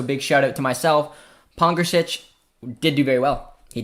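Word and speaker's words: Pongračić: against larry kuzin and that's absolutely massive um pong gretchich was fantastic i think i learned how to pronounce his name finally luca so big shout out to myself pongersich did do very well he did i think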